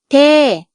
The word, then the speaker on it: เท่: Et puisque la consonne initiale est basse, le ton est descendant. เท่ Merci d'avoir regardé cette vidéo.